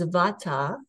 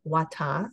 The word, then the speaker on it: Vata: five elements so our first Dosha is Vata for Wata depending on what country you're in and it's spelled v-a-t-a sovata consists of space